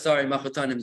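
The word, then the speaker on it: mechutanim: Machutanim, that's how you say it in English. Okay, machutanim, got it. Okay, with a K, right?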